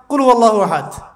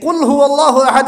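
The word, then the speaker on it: قُلْ هُوَ ٱللَّٰهُ أَحَدٌ: আরেকটা সূরা পড়ে গেলাম কুয়াল্লাহু আহাদ কি কলা মানে কি এটা উচ্চারণ কেমন করে করতে হয় কুল বলুন হুয়াল্লাহু আহাদ তিনি আল্লাহ এক এই যে কুলহু আল্লাহু আহাদ অনেকে বলতে পারে না কুলহুলা কুলহু আল্লাহু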